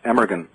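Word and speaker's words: Amergin: his name was aahan which is is actually pronounced emeran uhhuh it looks if you're reading it emeran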